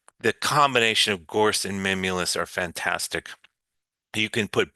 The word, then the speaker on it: mimulus: The substance for uh that framework for um security would be the best word is called mimulus. It's spelled m i m u l u s.